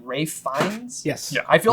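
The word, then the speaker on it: Ralph Fiennes: I said because it's it's spelled like Ralph is it not like yeah I thought it was Ralph but it's R um but uh I I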